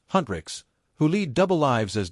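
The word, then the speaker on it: HUNTR/X: on a fictional K-pop girl group, Hu NR/X, pronounced Huntrixs, who lead double lives as demon hunters, and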